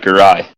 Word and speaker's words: Giray: Am I pronouncing that right? That's right, Giray. Everybody must pronounce it wrong. I pronounced it right.